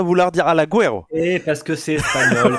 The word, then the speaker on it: Alaguero: monde dit Alaguero, mais Ouais, non, c'est juste Alaguero, Alaguero. En fait. Alaguero. Mais Il en y a fait, pas de- c'est le U, tu vois, le U, on Mais a oui. tendance à vouloir dire Alaguero.